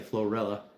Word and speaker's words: Florala: That it's called Florala, Alabama. It's Florida and Alabama put together. Um the locals say Florilla.